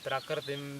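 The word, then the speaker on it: प्रकृतिम्: When you say prakritim, vikritim, there is a stress on the pra and v.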